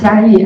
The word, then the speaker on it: Jiayi: Hello everyone, my name is Jiayi and thank you for the invitation.